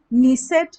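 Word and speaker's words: Knesset: Israel का नीसेट है, नीसेट, नीसेट जो है, के साइलेंट है, क्नीसेट भी बोल सकते हैं, लेकिन ये है नहीं, ये निसेट है, इजराइल की संसद का नाम नीसेट।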